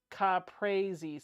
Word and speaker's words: caprese: Rolene says it's pronounced caprese.